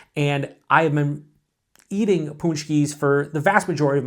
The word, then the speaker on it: Paczki: So when it comes to Paczkis, or some people pronounce it Punchki. There's a bunch of different pronunciations for the word.